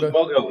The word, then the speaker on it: Mogo: I haven't heard you pronounce the surname, David Mogo. Mogo, yeah, Mogo, right.